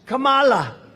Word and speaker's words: Kamala: tried to interrupt him know my name was kamala like comma i remember that like